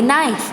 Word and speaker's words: knife: So you will not touch the knife at all. So repeat with me. K-N-I-F-E. Knife. Here the K is silent.